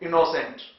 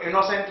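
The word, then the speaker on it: innocent: लोग बोलते है इनोसेंट तो इनोसेंट नहीं है क्या बोलेंगे इनेसेंट ऐसे ही इनोवेटिव नॉट इनोवेटिव तो यहां पर यह जो अक्षर है यहां पर इसका रंग साउंड ओ नहीं है इसका उच्चारण है ए तो आप यह मालूम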